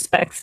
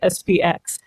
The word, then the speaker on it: SPX: speech on Cap Cut, sometimes it does call it specs. Those of us who are using Cap Cut know you sometimes have to choose a voice on the basis of which one pronounces it spx rather than specs.